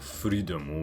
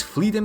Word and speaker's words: Fleadom: In Japanese, it would be pronounced something like Freedom, which is kind of ironic considering his second ability, Living Dead Dolls, allows him to control cadavers.